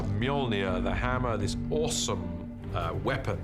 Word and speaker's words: Mjolnir: The first challenge with a hammer is to work out how to pronounce it, which is Mjolnir in our movie at the moment, until somebody corrects me, I'm sure they will. Mjolnir, the hammer, this awesome weapon for Thor, extraordinarily powerful.